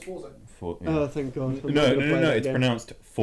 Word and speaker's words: Forza: Need for it's Forza. Oh, thank God. I'm No, not gonna play that it's game.